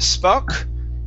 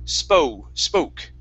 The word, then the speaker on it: spoke: Instead of spuck, with an O sound, it's O, spoke.